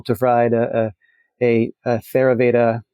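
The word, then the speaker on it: Theravada: and being able to provide a a a theaveda he pronounces it tavvada Buddhist practitioners from Burma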